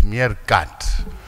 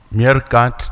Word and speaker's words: MeerKAT: It's MeerKAT. It's an African word. I'm trying to think about it, and I feel it's African's word. And I'm sure we must use the African's pronunciation.